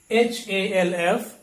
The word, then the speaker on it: half: called call okay and the next one h-a-l-f is half cup but in the last